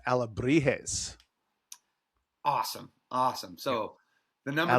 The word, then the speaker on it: Alebrijes: It's Alebrijes.